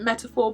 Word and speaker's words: MTPR: contact lenses are the MTP R and BTS collaboration so MTP R stands for metaphor so you should really pronounce it metaphor but I have it in my head that's just MTP r I think I have